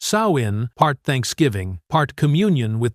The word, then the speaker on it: Samhain: To protect themselves, they held Sam Hayne, pronounced sawin, part thanksgiving, part communion with the other world.